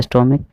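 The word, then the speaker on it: stomach: ठीक है, स्टोमक इसको पढ़ते हैं का की तरह उच्चारण होता है। ठीक है, सी एच को का की तरह हम बोलते हैं तो स्टोमक को एस लगाएंगे तो प्लूरल बन जाएगा, स्टोमिक्स।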